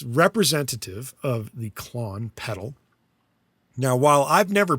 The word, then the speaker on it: Klon: However, they call theirs the I I guess you're pronouncing it the same, Klon. Minotaur is the Nembrini plugin, which is meant to emulate the Klon Centaur. However, it's not spelled K L O N, it's C L O N, and instead of Centaur, it's a Minotaur.